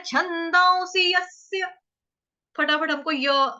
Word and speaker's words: यस्य: तो डबल स आ रहा है मेरा, आधे आधे दो स, यस्य। लेकिन यह जो है वो पूरा उच्चारण साफ साफ सुनाई देना चाहिए, किसी का अ नहीं सुनाई देना चाहिए, यस आ, यस आ नहीं बोलेंगे, यस्य, यस्य। क्लियर।